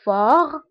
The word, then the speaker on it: fort: نشوفو الصفة الموالية فور فورت فور بالنسبة للمشكولة هي قوي وفورت هي قوية دونك فور فورت هنا أيضا تي لا ننطقها نقول فور فور فورت قوي وقوية